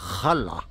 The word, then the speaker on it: Jara: Et ce village, c'est El Real de la Jala. Ça s'écrit Jara, mais on dit Jala en espagnol.